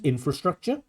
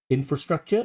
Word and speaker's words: infrastructure: Um the correct pronunciation is infrastructure. Infrastructure, not infrastructure. Um so we get the wrong word stress and also this R